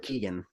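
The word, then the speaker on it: Keoghan: I go with Keegan, but there's Keegan.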